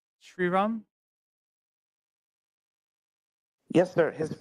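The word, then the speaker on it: Sriram: I assume you're vityan origin how do you pronounce his name correctly shiram yes sir his name is shiram yeah yeah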